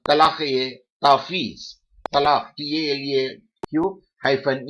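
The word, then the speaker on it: talaq-e-tafweez: Divorce given by wife under the husband's delegated power, that is called talaq-e-tafiz. Talaq, T-A-L-A-Q hyphen E hyphen T-A-F-W-W-E-Z. Here, talaq-e-tafiz, F is silent.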